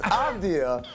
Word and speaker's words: Avdija: Yeah, your pronunciation is nothing. It's Avdija, but this is also nothing.